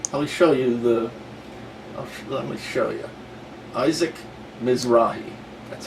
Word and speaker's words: Isaac Mizrahi: said in Reverse let me show you the Isaac Mizrahi that's how to pronounce his name okay here we go Isaac